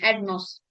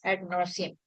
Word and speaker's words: ad nauseam: I meant how to pronounce that word. Which word? Ad nauseam. Oh, pronunciation. Ad nauseam. Yeah.